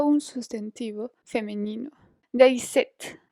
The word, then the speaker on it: cette: De ahí, cette se pronuncia exactamente de la misma manera del otro que acabamos de ver.